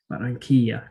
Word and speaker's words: Barranquilla: Venezuela, including in the city I referenced earlier, Barranquilla, that's how it's pronounced, Barranquilla, Colombia, where you can get kibbeh and falafel and all the good grub.